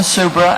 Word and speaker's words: Subra: My name is Wilma Subra, and I'm providing testimony on behalf of Super Company, Louisiana Environmental Action Network, and the Lower Mississippi River Keeper.